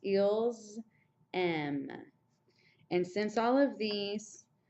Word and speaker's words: aiment: il and el pluriel, they end in E-N-T, but you don't say it. You just end with a strong sound on the letter that comes before the E-N-T. So this is pronounced ils, M.